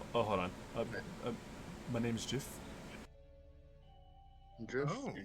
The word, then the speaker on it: Jif: My name's Jiff.